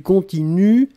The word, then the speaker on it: continuent: prononcez je continue du continuent ils elle continue et ici le pluriel il continue u11 nt on écrit nt on ne prononce pas d'accord donc il continue